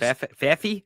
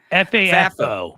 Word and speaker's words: FAFO: because I it's not that I don't want FAFO. Okay. Is that how you say it? FAFO? FAFO? It is. FAFI? FAFO.